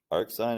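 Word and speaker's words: arcsin: there you guys go arc sign is how you say it at 2/3 what is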